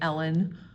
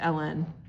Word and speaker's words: ln: n like that okay it's read as Ln sometimes people say it like the woman's name Ellen um but you know it's Ellen that's really all there